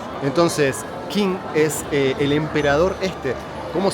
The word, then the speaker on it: Qin: China se llama China por King, que en realidad acá se pronuncia. Entonces, King es el emperador.